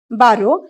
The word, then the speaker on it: barrow: बारो म्हणजे थोडक्यात काय, हातगाडी. BARROW. त्याचा तुम्ही उच्चार ऍक्च्युली बरो असा करायचा आहे. बरो म्हणजेच हातगाडी, पण जर बरो केले तर स्पेलिंग चुकेल म्हणून आपण बॅरो असं म्हटलंय.